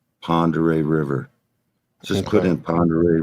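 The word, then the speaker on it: Pend Oreille: No, we have a famous river called Ponderay River. Just put in Ponderay River flows north. P-E-N-D Oreo, Pond Oreo River. O-R-I-E-L-L-E. Pond Oreo River. It's pronounced Ponderay River, but it's spelled P-E-N-D.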